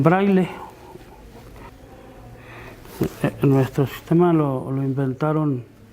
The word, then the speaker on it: braille: braille o braille también como es una palabra extranjera este es francés se escribe braille reyes escribe braille con doble ley y se pronuncia también braille en nuestros sistemas lo